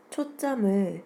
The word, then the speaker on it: 초점: 이렇게 발음되는 것이 동화입니다 초점을 초점 이렇게 발음하는 것은 이화이에요 원래 초 점에서 지의